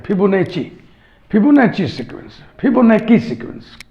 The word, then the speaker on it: Fibonacci: फिबोनाची sequence, इसको कुछ लोग उच्चारण करते हैं फिबोनाची, चा लगाते हैं, फिबोनाची।